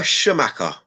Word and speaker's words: Scamacca: Is it Scamacca or Scamacca?